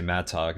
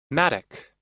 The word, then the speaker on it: mattock: sounds so weird when I say Matt talk so it's a mattock I don't know how to say that Google helped me maduk Maddock Maddock yep I will put my emphasis on the correct syllable from now on you